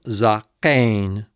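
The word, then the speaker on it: זָקֵן: So let's go back to the absolute form, zakain. Zain and kametz, za. Kopf, sere, and final noon, kain. There's the syllable division, and so it is zakain, zakain.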